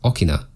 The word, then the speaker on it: 大きな: Notice that there's 2 o hiragana, so it creates a long o sound. The reason it's not answer 2 is because this is read as okina.